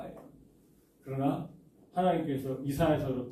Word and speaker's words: 이사야: 이사야서는 이게 너희라고 할 때에 이 이사야서는요 이사야만 선지자가 아니었었어요. 누구도 선지자예요? 이사야 선지자의 부인도 여선지자였어요. 여선지자. 그 이사야 이름 자체가 어떻습니까? 우리는 이제 이사야라고 하는데 히브리식 발음으로 한다라면은요 예사야가 되는 거죠.